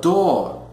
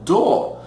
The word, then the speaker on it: door: A palavra door, ok? Observe que é um som vocálico O longo, door, enquanto no inglês americano nós pronunciamos o R no final, door, ok?